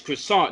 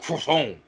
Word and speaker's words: croissant: a cappuccino with a croissant it's croissant you're not french don't turn into the fight the fleet in french when you want a croissant it's croissant not crohn you didn't turn french just